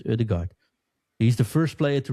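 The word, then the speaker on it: Ødegaard: and Erdigard is so often of ode depends how you want to say but I think officially pronounced as Erdigard he's the first player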